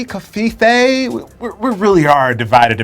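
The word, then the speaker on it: covfefe: Okay, so one Associated Press writer gave us a pronunciation guide, Kavfefe, but I'm still on team Kafifi. See, I was thinking Kafife.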